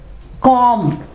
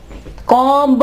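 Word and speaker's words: comb: इसके अलावा कॉम, कंघी को कहते हो आप कॉम, कॉम्ब नहीं कहेंगे, बी जो है वो यहाँ पे साइलेंट होगा।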